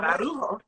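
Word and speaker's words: Araujo: But it's also the only way, because you got to roll your R to say that. Ararujo.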